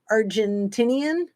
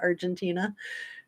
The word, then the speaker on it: Argentina: me say it wrong Argentinian well that's saying it right but he was from argentinia instead of Argentina remember when I made